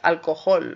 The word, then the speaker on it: alcohol: In English, we do need to create 3 syllables. Alcohol. Alcohol. That would be my guess as to in any case, that would be in my accent, and in many others' accent, but probably not everyone would use this accent. You're going to find that in some accents they tend to make changes, especially to vowels. Yeah, but alcohol. Could we go with O as in clock? Alcohol.